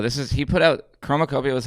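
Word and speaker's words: Chromakopia: Chromacopia.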